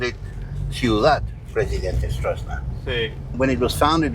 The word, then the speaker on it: Stroessner: Alfredo Stroessner is his proper pronunciation.